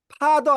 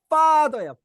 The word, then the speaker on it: father: father 아니고요. 파가 아니고 피가 아니고요. father예요. father. 이 혀를 약간 무는 거거든요. 쌍비읍인데 센 발음이에요. 그래서 father입니다. father.